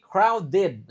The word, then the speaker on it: crowded: Nah, ingat ini di sini ed-nya dibaca. Iya kan? Karena ada ed, eh sori, karena ada d sebelum ed. Jadi ingat kalau ada t atau d sebelum ed, itu ed-nya dibaca id.